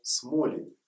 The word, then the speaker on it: Сголень: Слово «с голень» по старым правилам русского языка читается «смолень».